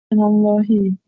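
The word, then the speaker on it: مِنَ اللهِ: Minallahu ha atau hi? Minallahi. Minallahi.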